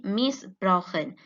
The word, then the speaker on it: missbrauchen: As we can see, missbrauchen, the duration and the intensity is present in the penultimate syllable that is stressed.